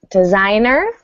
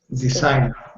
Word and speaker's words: designer: Um nine is designer. Designer. Yeah, designer. So that G is silent.